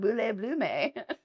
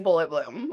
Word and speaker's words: Bullet Bloom: People were they people just butchered it like so about Boule Bloom. So finally I was just like it's bullet bloom right?